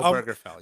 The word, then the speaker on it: Obergefell: When you look at, I believe it's Hodges versus Obergefell. Is that how you say it? I think that's Oh, right, Burgerfell, Chris. Is that how you say it? Oh, Burgerfell, yes.